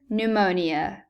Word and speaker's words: pneumonia: We've got patience, a pronounced P, psychologist, a silent P, progress, again, a pronounced P, and pneumonia. Once again, we've got a silent P here.